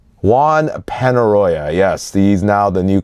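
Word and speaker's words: Juan Peñarroya: Did I pronounce that right? Juan Penaroya, yes, he's now the new coach.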